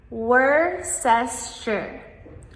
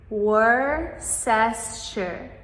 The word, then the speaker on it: Worcestershire: Worcestershire Worcestershire This is super tricky because of all of the extra letters that we do not actually pronounce.